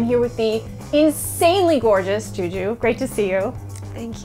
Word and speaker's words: Zhu Zhu: yeah well the it's it's pronounced the same Juju the two my family